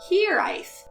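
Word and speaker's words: hiraeth: you pronounce this word I pronounce it higher ref but I think there's a bunch more pronunciations you could have asked Google this question but you decided to ask me so thank you for giving me the opportunity to learn a brand new word for myself The Voice pronounced it here ice so that's what I'm going with here ice especially in the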